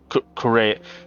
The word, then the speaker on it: Correa: Correa, like running in Spanish.